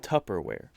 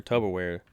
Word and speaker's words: Tupperware: where he's like yeah there's no tub in it it's tupperware and the guy was